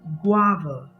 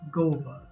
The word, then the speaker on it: guava: g a v a it has two syllables the first syllable gua carries the main stress so you say guava guava you don't pronounce it as gova you say guava guava